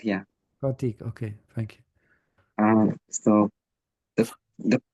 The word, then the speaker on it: Pratik: Is that correct pronunciation? yeah, Pratik, yeah. Pratik.